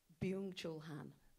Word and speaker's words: Byung-Chul Han: And could you pronounce his name again? Byung-Chul Han.